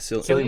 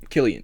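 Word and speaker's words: Cillian: Yeah, Killian Murphy. Killian.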